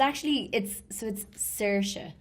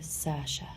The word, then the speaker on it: Saoirse: And it's like Swahe, it's like the Irish name. It's like Soire. And I don't know how to pronounce her name, so I'm not going to attempt it. But that actress... It's Saoirse, but it's easier for Americans and English people to say Saoirse or Sasha.